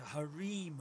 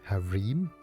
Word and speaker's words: harem: with nothing but a harim of rotting foul for company this is the way how it is pronounced Harem that's an interesting way okay tell the bird